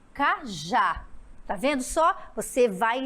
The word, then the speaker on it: cajá: E a letra D, cajá, cajá, é no já.